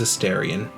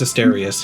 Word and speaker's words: Asterius: Is it Asterius? Hold on. Asterion is the vampire. Hold on. I said it wrong. It's Asterius. He's named after the bull, the Minotaur. He's named after the Minotaur.